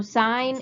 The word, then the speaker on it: sine: t a n so sine is pronounced like you're going to sign a piece of paper and again it's abbreviated